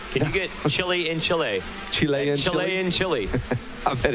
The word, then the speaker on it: Chile: watching back in chile you gotta say it like that right chile it's not chili it's not the food although i love some